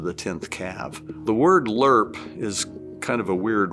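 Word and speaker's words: LRRP: 10th cav the word lerp is kind of a weird word the army does that with stuff it's pronounced l-u-r-p but what it really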